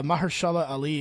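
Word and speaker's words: Mahershala Ali: Although u Maher Mahersala Ali I think is how you say it. He was awesome. Uh, Maharshala Ali is exactly how you say it.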